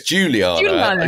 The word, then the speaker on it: Juliana: And also we have Juliana, our lovely chef as well. Is she based on anyone in particular, David Baddiel? Have you called her Juliana? Is it Juliana? No, it's Juliana.